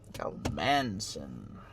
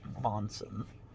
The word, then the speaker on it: Monson: Manson. No, it's spelled M-O-N. I know how it's spelled. Monson. Yeah. You're incorrect then, if you say Manson.